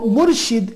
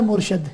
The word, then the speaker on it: Murshid: Sheen with kasra, with zir.